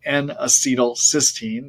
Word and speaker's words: N-acetylcysteine: by taking something called an acetylcysteine Knack or n-acetylcysteine cysteine is spelled c-y-s-t-e-i-n-e uh 500 milligrams three times a